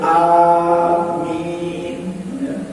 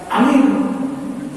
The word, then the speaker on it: amin: Dan ingat ya, amin A-nya panjang ya. Jadi A-nya 2 harokat, min-nya juga 2 harokat. Jadi amin, bukan amin.